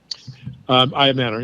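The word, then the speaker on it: Ayomanor: But Eric Ayamanor, is that how I pronounce his name? Ayamanor, yeah.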